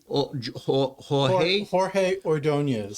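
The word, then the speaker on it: Jorge Ordóñez: Now I pronounce it Jorge Ordonez.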